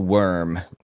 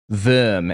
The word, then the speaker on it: Wurm: There was a bishop, high up leader in the church named Theophil Worm, or Wurm, as the Germans would pronounce it, I think.